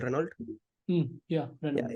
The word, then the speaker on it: Renault: So have you heard about the car company called Renault? Yeah, Yeah, Renault. it's actually pronounced as Renault.